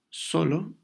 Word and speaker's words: solo: Por ejemplo, la palabra solo, pues no lleva acento, aunque suene más fuerte en la primera sílaba, solo, pues no lleva acento.